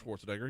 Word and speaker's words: Schwarzenegger: I always say Nager at the end. So Arnold Schwarzenegger. Am I saying it right? It's Arnold Schwarzenegger, yeah.